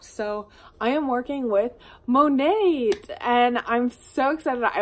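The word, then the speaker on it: Monat: i am working with monet and i'm so excited i always want to call it monet but you do pronounce the t monet i just started last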